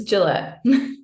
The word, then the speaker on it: Gillett: Gillett. I know a lot of people pronounce it wrong, so it's Gillette.